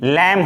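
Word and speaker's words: lamb: एम के बाद एम के बाद जब भी रहे तो हम भी को नहीं बोलते हैं मेंस बी क्या हो जाता है साइलेंट हो जाता है फॉर एग्जांपल नहीं पढ़ेंगे बी को मतलब बोलेंगे नहीं ये हमारा कम हो गया उसी तरह से ला एम बी लैंब हो गया टी ओ एम बी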